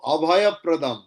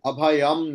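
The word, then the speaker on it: अभयप्रदम्: कमल Bhayapradam নয় গো, অভয়প্রদম। ভগবান অভয়প্রদম। वरेण्यम अभयम प्रदम অভয়প তা মটা উচ্চারণ করবো অভয়প অভয়প্রদম। वरेण्यम अभयम प्रदम অভয়ম নয়, মা অভয়প। প্র যেহেতু আছে তাই অভয়প্রদম।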